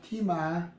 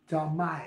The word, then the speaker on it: Talmai: So Timai. Strong's H, 8526. Talmai.